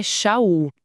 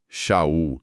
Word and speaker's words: Sha'ul: de Paulo, mas mas a pronúncia que respeita a raiz hebraica, como a gente vê nas notas, é Xul. Sul.